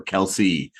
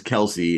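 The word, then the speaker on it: Kelce: is it Kel or Kelsey and they they say they pronounce it the two different ways like Jason says Kelsey and Travis says kelse so introduces himself Jose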